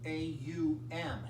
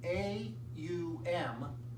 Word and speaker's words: Om: the vibrational sound of ohm it's more of a sound than a word and so it's really pronounced um a-u-m a-u-m is the sound it's